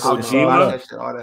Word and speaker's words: Kojima: Thank you for pronouncing that, because I was not pronouncing their last name worth a fuck. It's Kojima.